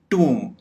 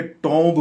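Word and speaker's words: tomb: कंगी, ट्यूम, टूम। इसको आमतौर पे टॉम्ब बोला जाता है, यानी एक तो हम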